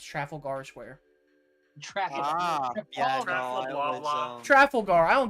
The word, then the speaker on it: Trafalgar: something yeah I mean you got it it's Trafalgar Square traffic Trafalgar I don't give a [